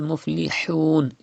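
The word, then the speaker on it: الْمُفْلِحُونَ: And then humul muflihun. It is ha, pronounced from the middle part of your throat like this.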